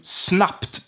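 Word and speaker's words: snabbt: instantly hear this with a word like snub snub it's voiced is voiced and we turn that into snapped because we have the t there the t is an ending we put at we slap that on there we slap that thing and the b turns into p so snupped we have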